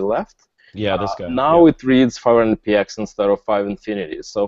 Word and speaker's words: 500px: clear how it's uh supposed to be uh pronounced and how it's supposed to be said so now it's clear that it's 500 PX and that's kind of like the main uh